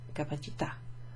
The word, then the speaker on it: capacità: And that makes the pronunciation of that a like a capacità, libertà. Okay, it's like a clipped short vowel sound.